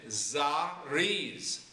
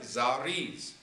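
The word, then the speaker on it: זריז: Then Zariz, Zariz. You hear that Z sound at the end? Zariz.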